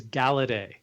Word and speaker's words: Galaudet: It is It is Galedet, but it has It's French.